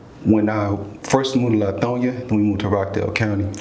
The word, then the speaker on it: Lithonia: i first moved to latonya we moved to rockdale county latonya that's crazy yeah i'll say it oh yeah i've been saying it wrong this whole time so i've been saying lithonia so in rockdale county